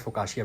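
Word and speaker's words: focaccia: और बताएं मुझे तो he said that we pronounce it एज फ काशिया bread as फर एज I remember it इज फ काशिया ब्रेड सो दिस इज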